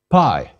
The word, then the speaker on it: pi: Pi. Pi is equivalent to the P in pie. Please repeat, pi, pa.